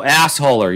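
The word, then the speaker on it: Agholor: with a guy by the name of nelson aguilor mike can you please tell me how to pronounce his name correctly before i go on we're at the nelson oh assholer yes yes so i'm i'm selling high on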